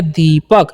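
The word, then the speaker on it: Deepak: देखो, D का उच्चारण कैसे करते हैं? आपको 'D' का उच्चारण 'da' की तरह करना चाहिए, दोहरा 'e' एक लंबा स्वर है, ' pa' का उच्चारण 'pa' ही होता है, और 'k' का उच्चारण 'ka' हो जाता है, इसलिए यह दीपक बन जाता है।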